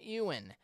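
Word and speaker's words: Éowyn: uh Little Talk on what happened with storm Ean that's how you pronounce it storm Ewan which hit the UK in Ireland last Friday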